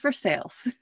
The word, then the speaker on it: Versailles: they might be hearing for sales i mean like what are you saying yeah yeah yeah yeah it is spelled exactly like versailles but because it is kentucky it is pronounced for sales and just so everyone